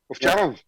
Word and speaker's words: Ovcharov: Third one on the panel is Mario Ovcharov. Is that pronounced well? Ovcharov? Yeah. Okay, thank you.